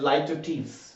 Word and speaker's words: Litotes: हमारी next figure of speech है लाई to tease. लाई to tease, लाई to tease, इसकी pronunciation कुछ इस तरह से होगी।